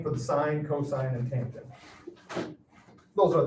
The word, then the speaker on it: sine: sine sine is spelled s-i-n-e the abbreviation for it is s-i-n now you see that s-i-n you read that as sine read it as sin if you want to